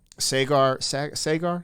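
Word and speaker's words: Saagar: Sagar, that's how you say his name, kind of leans a little bit right, and Crystal definitely leans left.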